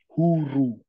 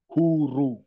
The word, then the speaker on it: huru: The two O's in English bring the word U, like mood, moo, oo, mood. So in Swahili, we'll say hu, huru, huru.